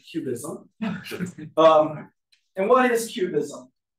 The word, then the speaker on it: QBism: about is something called cubism don't pronounce it cubism pronounce it like the art movement cubism um and what is